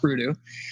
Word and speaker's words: Breaüxdoo: So Breaüxdoo had been, and we'll start off by saying it's pronounced Breaüxdoo. It's not a word. It's Breaüxdoo like voodoo.